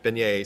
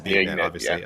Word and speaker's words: beignet: Beignet since you've landed in Louisiana. Is beignet. Uh beignet, excuse me. Yes, a bignet. Um I tal I talked around. Yeah. Turns out everyone's mispronouncing it.